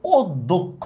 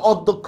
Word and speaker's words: অধ্যক্ষ: কিন্তু এখানে দেখেন এটার উচ্চারণ কিন্তু অদ্যক্ষ। ঠিক না? এটার উচ্চারণ কিন্তু ওর মত। আবার এটা বলে না স্যার আমি তো অধ্যক্ষ বলি।